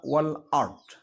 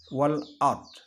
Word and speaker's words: والأرض: Kemudian ada kata wal ard. Wal ard itu hukum bacaannya adalah ijhar qamariyah. Karena ada alif lam bertemu dengan huruf hamzah, alif hamzah. Jadi dibacanya jelas, ijhar. Wal ard.